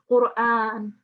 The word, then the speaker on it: القرآن: Okay, so first of all, it's Qur'an.